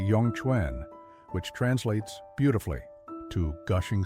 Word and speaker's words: Yongquan: They call it Yong Kuan, pronounced roughly Yong Chuen, which translates beautifully to gushing spring.